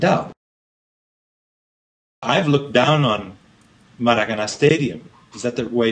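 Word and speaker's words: Maracanã: I've looked down on Maracana Stadium. Is that the way to pronounce it?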